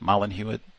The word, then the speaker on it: Mollin Hewitt: Mollin Hewitt, I think that's how you say it. Mollin Hewitt, is that it? Mollin Hewitt? Yes. Okay.